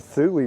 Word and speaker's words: Thule: Am I saying that right? It's Thule. Thule, okay. Thule, yep. All right, I've been saying it wrong for years.